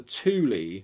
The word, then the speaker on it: Thule: different definitions online it to me t-h-u-l would be like fuel or something but apparently it's the thule society so let's go with that the thule society drop the h